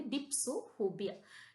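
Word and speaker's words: dipsophobia: डिप्सोफोबिया डिप्सोफोबिया this is अ वेरीेंट word डिप्सोफीबिया मतलब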